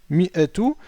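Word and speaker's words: مائة: Mi'atu. Et dans tous les cas, le alif ne se prononce pas lorsqu'on le lit.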